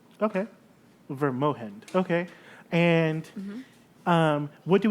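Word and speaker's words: Vrmogend: town's name is uh verm moind it's V r m o g e n d but the G is pronounced with an H okay ver moind okay and um what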